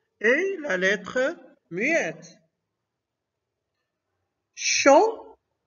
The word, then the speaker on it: chant: Chant, donc T est la lettre muette.